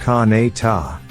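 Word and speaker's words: Conetoe: Nearly 300 souls call Canida, pronounced Ka-na-ta, home.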